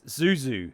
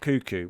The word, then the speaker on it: Zuzu: It's Zuzu, not Cuckoo.